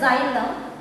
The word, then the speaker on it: xylem: See here we pronounce it as xylem.